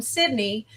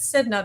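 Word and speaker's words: Snida: weren't as educated and they called him Sydney because of the accent, but as as time went on, everybody in the last several generations have referred to him as Sidna because of the way it's spelled, S N I D A.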